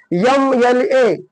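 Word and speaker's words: MLA: एस प पुढे बघा एम एल ए जरी कॉजोनंट आहे पण उच्चार कसा आहे वेल आहे म्हणून एम एल A next x ray उच्चार कशापासून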